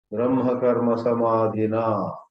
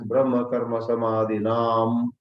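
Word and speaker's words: ब्रह्मकर्मसमाधिना: Many times in popular Geetā chanting, Brahma Karma Samadhina is mispronounced either as Brahma Karma Samadhinam or Brahma Karma Samadhinaha.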